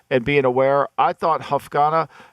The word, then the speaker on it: Hufanga: on his intelligence and being aware I thought Huff Ghana how do you say that femi ufanga I thought hufanga is you know he's so reminiscent of palomoa